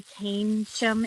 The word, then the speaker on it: Keynsham: It's spelled like key and sham, but you say Keynsham.